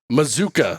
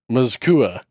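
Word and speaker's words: Mazzccua: we've got wow Micah Mazuka some people might say maua it's mzuka I just pronounce it how it's spelled I do a bad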